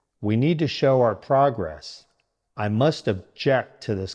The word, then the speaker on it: progress: The main rule to remember is, for the noun form, stress the first part. For the verb form, stress the second part.